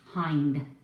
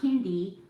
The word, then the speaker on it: Hind: But first I wanted to tell people that the correct pronunciation of my last name is Hind. Not Hindi, Hind.